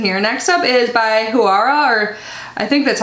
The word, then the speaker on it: Juara: So, oh, it says how to pronounce Huara. Juara. So I think you do pronounce the J. It's Indonesian. Juara.